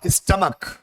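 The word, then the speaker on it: stomach: है, सी एच है, लेकिन प्रोनाउंसिएशन क्या है, स्टमक। और जब सी एच का प्रोनाउंसिएशन क्या हो, के हो, का हो, तो ये सी है।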